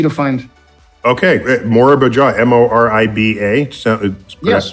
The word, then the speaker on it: Moriba: Okay, Morba Jaw, Moriba. Yes.